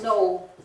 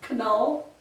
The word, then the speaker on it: Knoll: Of course, because it's German and it starts with a K, so you pronounce it.